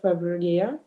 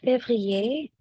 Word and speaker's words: février: Il fait froid en février.